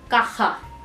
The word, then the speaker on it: caja: And just pay attention towards the pronunciation of J. As I always say, J is a heavy H sound where there is a lot of participation of throat, so it's la caja.